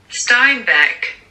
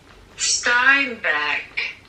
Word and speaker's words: Steinbeck: colère de John Steinbeck, c'est comme ça qu'on prononce ton nom. J'ai regardé. Steinbeck. Ok. Steinbeck.